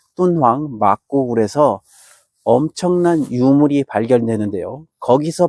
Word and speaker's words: 돈황: 그 위쪽에 돈황, 중국 발음으로 똔황입니다. 똔황 막고굴에서 엄청난 유물이 발견되는데요.